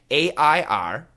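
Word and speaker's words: err: A-I-R, air. E-R-R, air. H-E-I-R, air. H-A-R-E, hair. H-A-I-R, hair. So the first three are pronounced the same. A-I-R, E-R-R, H-E-I-R are all pronounced air.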